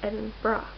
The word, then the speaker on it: Edinburgh: It's called Edinburgh. Like bra.